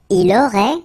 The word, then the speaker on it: Il aurait: Il aurait, same thing here. Final T is not pronounced.